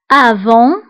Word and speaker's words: avant: avant qabla avant qabla فبالنسبه لافون كنكتبوها بالتي في اخر الكلمه ولكن لا ننطقها avant qabla aujourd'hui aujourd'hui